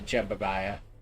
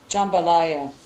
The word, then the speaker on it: jambalaya: That's why I was like, what is Vix normally put the jumbaya? The the what now, sir? Jambalaya.